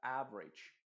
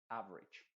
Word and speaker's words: average: pero aquí se diría average. Es como si la E se eliminara completamente y la A se pronuncia más como una I, average.